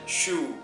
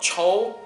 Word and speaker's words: choux: So this is called choux, French pronunciation choux, not chow, not chow, it's choux.